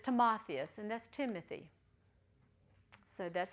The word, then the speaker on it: Timotheus: it so toas to a lot of times you hear timotheus we just don't squabble about the exact sound it's just too much time for nothing but it's timotheus and that's Timothy so